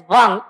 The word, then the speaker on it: वं: Madam, मैं अभी एक रिप्रेजेंटेशन आपकी स्लाइड पर था, हाँ, जिसमें आपने लम वम रम यम इसके लिए लिखा है कि एम साउंड नहीं होगा, वम is pronounced as वंग, NG sound.